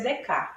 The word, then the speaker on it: Descartes: Mas eles vão entrar num mundo diferente com outro filósofo, que é o Descartes, que a gente escreve, mas a gente pronuncia Descartes, que é um filósofo